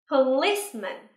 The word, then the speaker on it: policeman: Policeman. Nhớ là trọng âm rơi vào âm tiết thứ hai nha.